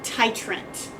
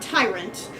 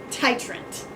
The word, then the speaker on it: titrant: the buet that is what we call our titrant okay not Tyrant titrant whatever could be the